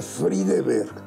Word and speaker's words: Friedeberg: Yo soy Pedro, se pronuncia Friedeberg, me parece un nombre horrible.